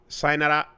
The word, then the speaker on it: sayonara: was so fast and it sounded like one or two sounds. One syllable. Sayonara. It was all like one thing. And I was like, oh, that's what it actually sounds like, depending on who you're speaking to sometimes.